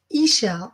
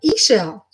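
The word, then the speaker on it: Ix Chel: So it's pronounced Ishel. I know it's IX and I think like 9 or something, but Ishel.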